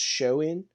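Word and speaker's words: Samhain: The Celtic festival um pronounced showin.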